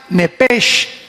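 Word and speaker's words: נפש: Se pronuncia nepesh con sh al final, neej.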